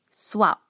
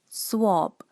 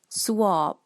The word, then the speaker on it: swab: right now in malaysia we call this swap swap but the correct pronunciation is swab swab a famous mispronoun profession